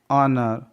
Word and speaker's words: honour: ऑनर. H के बाद O है इसलिए H साइलेंट है.